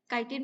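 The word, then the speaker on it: chitin: सो fungi की जो cell wall होती है वो चीटिन से बनी होती है। कोई कोई लोग इसे काइटिन भी प्रोनाउंस करते हैं।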